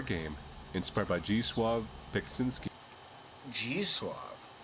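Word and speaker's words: Zdzisław: G-Suave. It's spelled ZDZISLAW. Like I understand the W becomes a W with a V sound, right?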